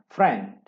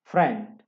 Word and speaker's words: friend: Kemudian ada yang hurufnya I E dibacanya E. Friend. Friend. Nah, nih.